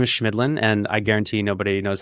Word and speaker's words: Chemidlin: eight times but hey my last name is schmidlin and I guarantee nobody knows how to spell that so I feel I I understand yeah